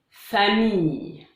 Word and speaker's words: famille: La combinaison des lettres ILL forme le son Y, comme un Y. Y. Par exemple, répétez après moi. Une fille, une famille, du gaspillage, juillet.